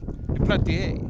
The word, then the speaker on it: Duplantier: So, Grant, I was pulled aside by these guys in the hotel lobby, and they told me that he is going by the French pronunciation of Duplantier. Duplantier.